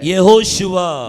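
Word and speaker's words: יהושע: யெகோஷுவா. यहोशुआ है। நிறைய பேருக்கு அது உச்சரிக்க வராது.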